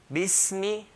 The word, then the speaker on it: Bismi: Bismi, B, clear kasra, B. Bis, hold the sin. Bismi, no, bismi, no. Bismi, mim, clear mim with a kasra, so clear kasra. Bismi.